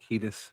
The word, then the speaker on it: Kiedis: So they go out and they tell Anthony Kiedis, I think that's how you say his name. Kiedis, yeah.